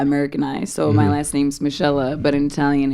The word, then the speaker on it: Monique: Michelle.